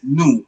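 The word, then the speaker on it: nous: New which means we.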